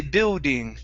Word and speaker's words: building: Now, the good thing here is that typically Brazilians say this word, that L in the middle, they say building. Okay, you pronounce that L.